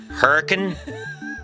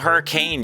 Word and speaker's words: Hurricane: And it's located near the town of Hurricane, Utah. Not Hurricane, Utah. Hurricane.